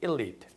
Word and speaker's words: elite: 우리가 흔히 elite라고 하는데 발음은 elite.